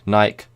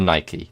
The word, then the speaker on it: Nike: phrases for example red naik men's running shoes red naik men's running shoes so or Nike depending on your Foreman how you say it so that is